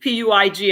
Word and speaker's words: Puig: The first story is Yasiel Puig, Puig, and I think that's how you pronounce it. I don't want to say Pig because I don't know, and I don't want to call him his name that.